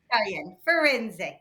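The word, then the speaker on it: Firenze: for foren for foren foren foren it isan foren perfect and that's the new Italian Styles ship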